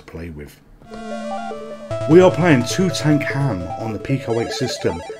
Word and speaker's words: Tutankham: dark pool well actually it says look two tank ham it says it clearly above and that's how I'm going to pronounce this game this game is on